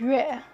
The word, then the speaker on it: 月: So moon, pronounced as 月.